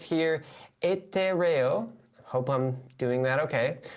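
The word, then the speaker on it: etéreo: And I can see it's pronounced here etereo. Hope I'm doing that okay. The word etereo is an adjective in Spanish that means ethereal or heavenly.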